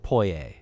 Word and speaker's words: Poyais: Cazique of Poyais.